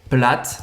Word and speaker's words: plate: Plate. Também a gente não fala o E no final.